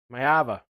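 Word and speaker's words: Maiava: Mayava.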